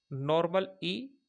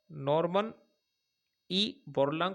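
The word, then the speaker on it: Norman E. Borlaug: पर दिया जाता है नॉर्मल ई नॉर्मन ई बोलांग पुरस्कार थोड़ा उच्चारण में ध्यान देना सही है और इससे जुड़ी ई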